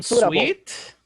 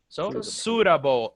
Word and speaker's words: suitable: Sweet. No, Suitable. suitable. Suitable. suitable. It is, yes, suitable, suitable, suit. Suitable. If you separate the word here until the T, that's called suit, suit. So suitable.